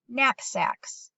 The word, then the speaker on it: knapsacks: that KN says mmm K is silent remember we pretended that the K was sneaking up on the N and so he's silent